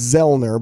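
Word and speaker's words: Zoellner: You don't pronounce the O, so it's Zellner, but you see the O, and people are always mispronouncing it.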